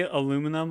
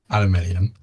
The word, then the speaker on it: aluminium: Do you say aluminum or aluminum? Aluminium.